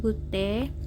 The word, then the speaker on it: GTT: Resipi asid salisilicium 0,2 oleum rose 1 gute. GTT ini bacanya gute, 1 gute artinya 1 tetes, kemudian talkum et 10 artinya talkum sampai 10.